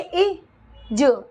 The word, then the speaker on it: is: ठीक है आगे आइए आई एस तो इसको पढ़ेंगे इ ज इज इज पढ़ेंगे इसको क्या पढ़ेंगे इज क्योंकि इनम देखिए एस के बगल में ए वगैरह कुछ नहीं लिखा तो इज